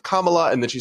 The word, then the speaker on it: Kamala: on a panel that she said Kamala instead of Kamala, and then she said, I don't care how to pronounce it, I'll say it however I want.